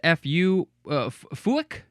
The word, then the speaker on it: fuik: Well, it looks like their word is pronounced fuik, spelled F-U-I-K. But at least the American English way is fyke. So maybe that's how they pronounce it as well.